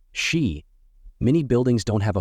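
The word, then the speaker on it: し: Number 4 is considered unlucky in Japan because it's pronounced the same as the word for death, shi.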